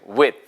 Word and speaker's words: with: 이 발음을 with나 with라고 하시는 분이 있는데 절대 아니에요. 해보세요. with. 이렇게 먹어주셔야 돼요. 소리를. with. 틀린 발음이에요. 해보세요. with. 스 발음이 거의 안 들리죠.